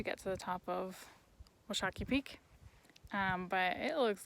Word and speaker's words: Washakie: I'm saying Washakie. It's a long A sound, and I think it's Washakie. Anyways, they said I should beat bag it, so I'm gonna try. Washakie Peak.